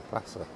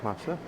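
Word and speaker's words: Plaça: Here they call it Placa Mayor, but I think they pronounce the C cedilla as an S, so it's probably Plaza.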